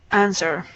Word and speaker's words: answer: and answer not answer you don't pronounce the W in answer answer mhm good okay yeah